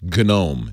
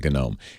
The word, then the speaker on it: GNOME: with pop os is called genome gnom I'm gonna pronounce it gnome from now on just to be clear it's good ohm and actually I like saying kinome kinome is a little